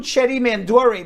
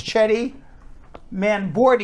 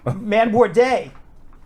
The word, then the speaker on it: Chetty Manbordi: I always call him Chetty Mandori, but apparently I've been reading his name wrong this entire time. It's Chetty Manbordi. He's never bored. Manbordi. No. Manborday.